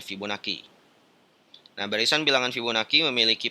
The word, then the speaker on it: Fibonacci: divideo berikutnya sebelumnya ya pola bilangan Fibonacci atau bacanya Fibonacci nah barisan bilangan Fibonacci memiliki pola mulai dari